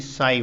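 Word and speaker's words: psi: ये Greek letter है जिसको लिखते हैं पी एस आई, यहाँ पी साइलेंट रहता है, हम इसे साई बोलते हैं, साई त्रिशूल जैसा ये।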